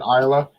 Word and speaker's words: Islay: Isa and um islay Isa yeah but they pronounce it Isa and turn it a little bit and space